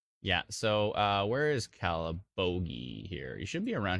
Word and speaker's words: Calabogie: should we be concerned in calabogi which I now know how to pronounce when the tornado went through the ef3 went through uh that area I kept calling it calibogi which may or may not be cooler than calibugi or scalabogi kalabugi calibogi anyways long story